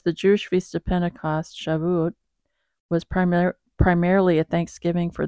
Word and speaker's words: Shavuot: Here, let's see how we pronounce it. Hold on. Oh, Shavuot. Oh, Shavuot.